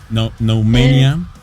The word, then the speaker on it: Noumenia: No mania that's Nmania. Okay. Like uh demo candies.